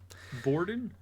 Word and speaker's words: Borden: How do you pronounce the Borden. name? It's Borden.